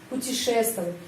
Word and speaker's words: путешествовать: Могут путешествовать, penekanan di sini karena itu huruf O ini pengucapannya A, путешествовать.